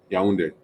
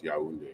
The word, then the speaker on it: Yaoundé: Yaoundé. Almost had it. Yeah. You know what, those words, you just spell it phonetically, how it sounds. Yaoundé.